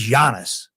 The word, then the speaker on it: Giannis: His name is Giannis. It's pronounced Giannis like Y O N like Jani.